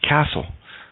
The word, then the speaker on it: castle: T is silent in debut, ballet, and, oh, look at that, castle.